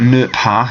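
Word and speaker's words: ne pas: okay so we've got new power notice the silent s minha not or don't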